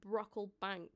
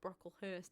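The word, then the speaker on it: Brocklebank: Daniel Brockl Bank, not Brockhurst. I was so close.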